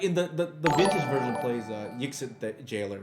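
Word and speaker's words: Yixlid: Yixit Jailer, that's how you pronounce it.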